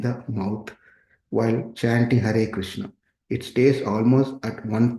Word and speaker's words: Krishna: The letter R in Krishna, although a vowel, is uttered in the same way, more clearly. The tongue produces the sound R, but it is produced like R.